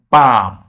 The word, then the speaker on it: balm: Balm. Option B, carry. Option C, calcium. Option D, Sam. You can see in balm and Sam, the letter L is written, is spelled, but it is not pronounced.